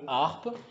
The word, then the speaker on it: harpe: Voilà, donc la lettre H ne fait pas de bruit, comme dans le mot harpe.